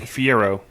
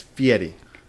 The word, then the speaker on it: Fieri: Fiero. No, it's Fieri. Guy Fieri. Yeah. That's how you say his name.